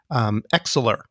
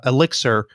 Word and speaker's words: elixir: person who was talking kept mispronouncing it as excellor oh so we actually what we ended up doing in the end is we we found three instances where that person said X elixir properly you see that